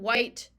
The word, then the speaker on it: white: it's just like in where we have a silent h in when we have a silent h in white we have a silent